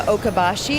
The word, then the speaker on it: Okabashi: conversation with Sarah we're here with Sarah from oka Bashi am i pronouncing that yes Lee okay so Kobashi walking